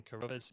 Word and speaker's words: Carruthers: really like twitter so it's just at carruthers you might need to check the spelling of